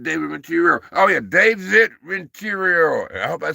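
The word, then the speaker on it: Renteria: He's like rent, you know, like rent your own. But it's Rentia. R E N T E R R A, baby.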